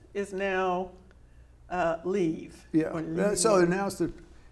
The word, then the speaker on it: Lviv: And what used to be Lvov is now Lviv.